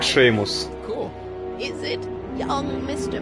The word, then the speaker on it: Seamus: Мне интересно, кстати, почему слово Симус они произносят как Шеймус.